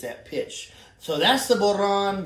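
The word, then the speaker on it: bodhrán: So that's the Boron, the B-O-D-H-R-A-N, Boron. You can say it however you like. I promise you, I've heard many people pronounce that many different ways, all thinking that was the authentic way to say it.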